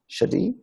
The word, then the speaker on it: Shaddai: eternity and hard Majesty the name Shaddai pronounced shadi is asad foundation and